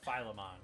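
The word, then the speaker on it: Philemon: your new spirit guide, his name is uh Filman. Filimon. I I don't know how to pronounce his name off the top of my head. Phileon.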